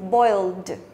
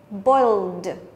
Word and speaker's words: boiled: Thế còn phương án D đọc gì? Boiled. Boiled. Ok, thì ED đọc là âm D.